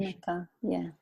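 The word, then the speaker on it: Unci Maka: Is that the correct pronunciation? Unchi Maka, yeah.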